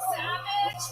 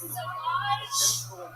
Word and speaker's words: Sauvage: Johnny Depp has a fragrance called Savage, pronounced Sauvage.